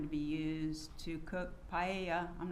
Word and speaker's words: paella: be used to cook paella, I'm not sure if that's how you pronounce it, at the party. It's pronounced paella.